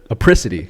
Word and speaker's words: apricity: do you say it aity are you sure apricity all right all right spell it a p r i c i t